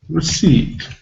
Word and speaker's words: receipt: the Digraph e i we've got the first letter e which is not pronounced we've got p which is not pronounced why is that there we don't know but it's there we have to learn it but in clear alphabet